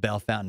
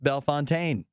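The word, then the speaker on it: Bellefontaine: about Bell Fountain Ohio it looks like it should be pronounced Bell Fontaine and there's a million places in the midwest that look like they should be pronounced something French and they're pronounced in the least French that way you can possibly imagine um Rachel's right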